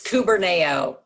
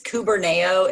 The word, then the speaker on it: Kuberneo: for me okay um it's kuberneo it's k-u-b-e-r so it's k-u it's kuberneo it's a greek word